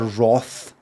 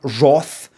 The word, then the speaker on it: wrath: watch no believe me Wrath pronunciation rough look at that Roth British look look there is British pronunciation broth British Amano on the island the geographical island of Britain right I don't say Roth I have never said Roth broth broth American wrath Ralph they've got that one